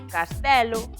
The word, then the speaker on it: castelo: Só se pronuncian con E aberto amarelo, velo, cancelo, castelo, martelo, modelo, paralelo, pesadelo, sinxelo ou xurelo.